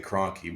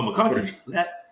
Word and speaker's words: McConkey: I keep wanting to say Cronky, but I'm getting the name wrong. He good too. Oh, McConkey.